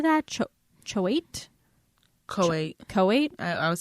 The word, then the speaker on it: Choate: Choate? Coate. Coate? I would say Coate.